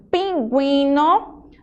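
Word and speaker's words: pingüino: Então, quando você vê o sinalzinho de trema, que são aqueles dois pontinhos em cima da letra U, significa que essa letra ela é pronunciada. Como assim, professora? Você vai falar ela na hora que você estiver dizendo a palavra, ó. Pinguino, linguística, então...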